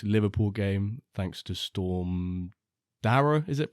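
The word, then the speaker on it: Darragh: the Everton vers Liverpool game thanks to storm Dara is it pronounced d Dar is it Dar yeah I'm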